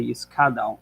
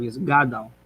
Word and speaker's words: yisgadal: We find also in Kaddish, people often say yiskadal instead of yisgadal. The soft G is pronounced like a hard kuf.